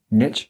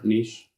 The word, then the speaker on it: niche: Here's your How do you pronounce that word? Niche? Niche. I don't know. or niche. I feel like niche just makes you think of philosophy. Yeah. Thank you. Like But that is Nietzsche. how it's pronounced, I'm pretty sure. Niche. Yeah, that's what I thought too. Yeah, if you're not American. If you're American, you just say niche.